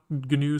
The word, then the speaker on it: GNU: it new pronunciation it is pronounced with one with a hard g g group oh okay